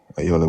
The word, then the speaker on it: Ayola: It's a Nigerian name. It's pronounced Ayala, but Ayola will do.